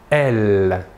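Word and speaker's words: elles: troisième personne du pluriel est elle même chose que pour le masculin l'aes finale ne se prononcent pas voilà pour les pronoms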